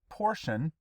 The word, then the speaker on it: portion: word's going to be it's pronounced portion because Tio n together says shun again the act or